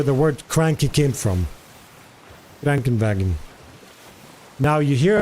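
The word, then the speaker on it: Krankenwagen: It feels like it comes a bit from from to the nose. Cranken wagon. That's how I again I'm sorry if it sounds a bit weird but that's how I perceive it when I hear it.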